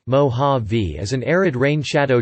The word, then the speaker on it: Mojave: The Mojave Desert pronunciation, mo-HAH-vee, mo-HAH-vee, is an arid rain shadow desert and the driest desert in North America.